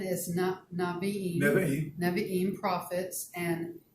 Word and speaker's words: Nevi'im: And what it stands for is the Torah, which is the laws of Moses, the Nevi'im, which is the prophets, and the Nevi'im, if you're writing that down, is spelled Nevi'.